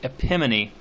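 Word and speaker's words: epimone: This is a similar device, and it's called epimony. I'm going to spell that for you.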